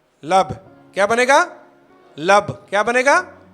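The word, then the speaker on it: לב: लैमद Beth को यदि हम प्रोनाउंसिएशन करेंगे, प्रनाउंस करेंगे, तो क्या बनेगा? लब।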